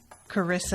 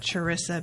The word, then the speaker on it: Charissa: asked me to say carissa and not charissa because the h is silent thank you carissa for commissioning this welcome